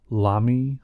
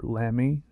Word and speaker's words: Lamy: new pens I believe the brand is pronounced Lami or Lamy LM um I bought them